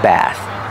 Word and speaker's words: bath: is a bird bath remember the th makes a voiceless sound like think and thank you bird bath this is a bird